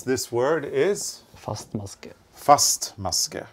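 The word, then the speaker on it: fastmaske: FM is the abbreviation and the way to pronounce this word is first muscare it's a firm stitch yes so a single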